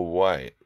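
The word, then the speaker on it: Wight: were going to the our White right I say right but it's spelled w RI ght and it's a beautiful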